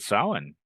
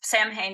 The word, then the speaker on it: Samhain: we start with with Salin yeah that's the perfect spot which a lot of people mispronounce yes Sam Hayne is not the word right s it it's it's a Gaelic word and um it it's